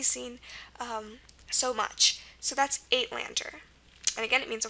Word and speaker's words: Uitlander: So first of all, remember we said the long A sound is spelled several ways, actually. Remember, in Dutch, it's going to be spelled E or Y most of the time, but if it has gone through Afrikaans, there were 4 different ways to spell it. There was EY, A, EI, and UI, and this is an example where UI is used for that sound. Okay, so that's why we have the A. The T is normal.